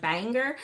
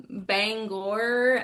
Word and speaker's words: Bangor: I always say it wrong. My Texas twang wants to be like banger. Um, Bangor, Maine in May.